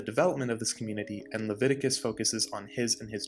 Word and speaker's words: Leviticus: bible and the torah it's called leviticus emphasis on the levi because it's mainly concerned